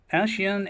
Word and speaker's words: Eshean: some translation error um she's pronounced as Asian and I think the